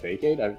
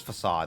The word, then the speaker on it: Facade: You pronounce it Fakeade? I thought it was always Facade. It's Facade, actually.